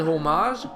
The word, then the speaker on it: homage: to the fact that homage it's not a French word it's home and it's supposed to be pronounced you know like an English person would but what do I